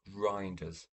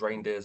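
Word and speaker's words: Reijnders: We've got, I believe it's pronounced Reinders. I thought it was Reindeers at first, but I think it's Reinders.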